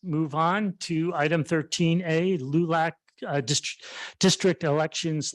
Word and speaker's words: LULAC: from the league of United Latin American citizens pronounced lulac the AC the acronym and that is in